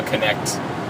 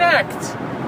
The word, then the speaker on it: Kinect: Kinect. Like kinetic. Yeah, like but kinetic. Also like Connect.